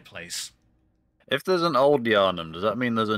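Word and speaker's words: Yharnam: wasn't old J I'm sorry I got the name wrong it was that nightmare that nightmare place if there's an old yarum does that mean there's a new yarum yes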